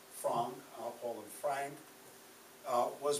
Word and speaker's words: Frank: that was her name we call her anne frank the family pronounced their name as frong al paul and frank